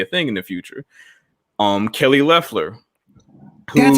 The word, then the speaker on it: Kelly Loeffler: Kelly Loeffler.